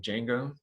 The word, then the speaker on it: Django: is was built using django so even though there's this d out front that d is silent you just pronounce this as django like it started with the j and uh at the